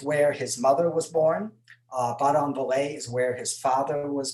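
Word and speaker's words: Badonviller: In big letters, I have Baudon-Vallée, and I'm pretty sure that's pretty close to how it's pronounced. I asked a couple of French speakers.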